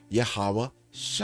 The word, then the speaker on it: Yahawashi: the source language right so when you pronounce it you say yahawah Shi all right so in English we have letters that is able to pronounce his name yahawashi so just because we